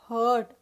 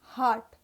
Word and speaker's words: heart: जो आपका दिल है, it is not hurt. या your दिल can be hurt but it is not called as hurt. दिल को कहते हैं heart. Heart. So H-E-A-R-T, आपका दिल, उसको आप pronounce करेंगे heart.